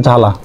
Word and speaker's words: জ্বালা: উচ্চারিত হবে না যেমন জ্বালা ব প্রথমে আছে সেজন্য বফলা উচ্চারণ হবে না থক তকে বফলা আছে